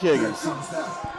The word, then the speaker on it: Higgins: I've been calling him Wiggins for a while, but now it's Jake Higgins.